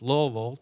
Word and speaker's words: Louisville: Theology of Thomas aquinus a proud native of Louisville Kentucky and and because he's from Louisville he he knows is pronounced Lille two syllables uh Paul graduated from bman college